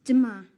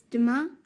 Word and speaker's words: demain: It's demain. Sorry, can you say that again, please? Yes, it's demain. How do you spell that?